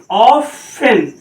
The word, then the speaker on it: often: अब सॉफ्टन नहीं पढ़ा जाएगा, ध्यान देना, OFTEN। अब इस वर्ड को क्या पढ़ा जाएगा, ऑफन, टी को साइलेंट कर दिया जाएगा, इसको पढ़ा जाएगा ऑफन।